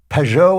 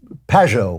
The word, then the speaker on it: Pageau: I've heard it pronounced pejo and I've heard it pronounced pajo which one is uh first one is the best one uh so the book